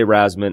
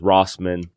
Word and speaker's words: Wrasman: I say Rasman. Everyone in my family says something different. There's Rossman. There's Rasman. There's Ras with an S.